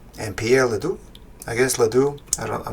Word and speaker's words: Ledoux: I guess Ledoux. I'm not sure. With the French names, you don't pronounce the last letter sometimes.